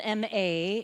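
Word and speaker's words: 間: It's spelled M-A in our English alphabet. However, it's pronounced M-A-A-H, Ma.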